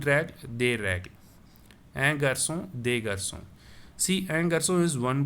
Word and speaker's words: garçons: Un garçon, des garçons. So I am not pronouncing the s.